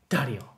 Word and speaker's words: Dario: that is so funny Dario is how you pronounce my name actually do I get